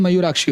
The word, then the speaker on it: मयूराक्षी: बाकी आधा कप लगाना चाहो तो लगा सकते हो, इसकी प्रोनाउंसिएशन मयूराक्षी होता है।